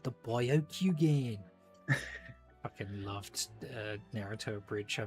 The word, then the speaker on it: Byakugan: It's pronounced Byakugan. That's what I said, the Byakugan.